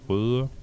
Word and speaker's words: Røde: Well, in my native language, it's pronounced røde. It's R and an Ö. It's an O with a line between.